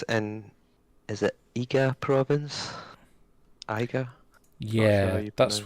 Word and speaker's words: Iga: Iga? Yeah, you that's pronounce that's what they said.